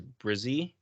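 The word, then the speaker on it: Bresee: So they have it here as Brizzy, Bruh, then Zee.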